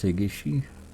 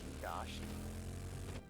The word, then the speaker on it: Higashi: Is it pronounced Higishi? Is it H-I-G-I? I think so. Yeah, that would be Higishi. You've had it basically right all along. It's H-I-G-I-T-E-G. It's H-I-G-A. It's Higashi.